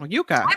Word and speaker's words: yuca: than a potato fried Yucca is the best ever oh is it Yuca am I pronouncing it wrong oh is it you I would have said Yucca too Yuka okay I'm sorry I don't